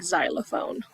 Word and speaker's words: xylophone: letter x so and if they do it sounds like the letter Z like xylophone but that's a big